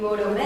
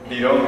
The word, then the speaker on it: birome: "Maíz pira" And "Borome" is ugly... It's "Birome" (pen) Birome or Borome?